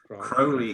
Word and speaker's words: Crowley: or alex to crowley crowley himself said it's crowley to rhyme with holi actually while you're talking